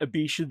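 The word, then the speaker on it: Abecean: Is that how that's supposed to be pronounced? Abetian Sea? I've been saying Abyssean. I prefer my way. Abetian just sounds so ugly. Abyssean sounds so exotic.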